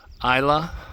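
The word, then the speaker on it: Islay: Visited the aisle of Isa. It's spelled I S L E A Y but pronounced ISA.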